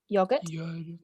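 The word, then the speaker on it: yoghurt: Banana smoothies, when mixed with Yogurt. Teacher, are the G and H silent? So we say the G, but the H is silent.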